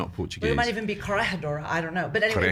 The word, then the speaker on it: Corregidora: And they said Corregidora. Yeah, they pronounced it soft G, but All right. I'm not Well, Portuguese. it might even be Corregidora.